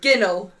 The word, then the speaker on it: ginnel: Ginnell.